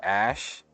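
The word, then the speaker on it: Æ: pronounce the name Grimes explain the X like the letter AE pronounced like Ash and a12 as intended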